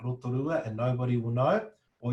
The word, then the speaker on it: Rotorua: Yeah, rotorua, rotorua.